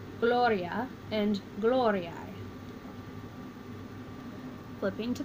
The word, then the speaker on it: gloria: singular underlining the stem breaking it into its syllables three syllables so I started at the end went back one it was not long so I meant back one more and put our accent here and we have Gloria and little Oreo flipping